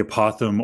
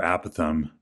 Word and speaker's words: apothem: times perimeter and the apothem or apathum it can be pronounced either way is from the center